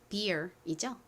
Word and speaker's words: beer: beer이죠? beer. 써보세요. 확인할게요. 비읍 소리 나는 B. 그리고 덩어리로 ear 소리 나는 E-E-R.